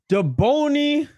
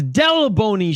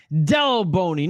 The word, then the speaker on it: Delboni: the playoffs I believe Shane is going with daboni or Dell Shane that's wrong that's not you pronounce the name that's not even how you spell the name and you made me it up it's Della bony Shane Dell bony not do bony come on